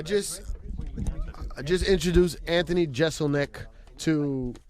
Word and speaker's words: Jeselnik: a Marc Maron it was having a problem pronouncing your name he was going through hi but it's Jeselnik right that's right Anthony Jeselnik is in the